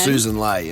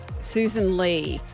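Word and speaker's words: Sussan Ley: Well, I heard a guy on Sky Susan Lelay and it's but it's double S and it's L E Y. Is it? So is it Lei or is it Lee? Lee was how it's pronounced. Susan Lee.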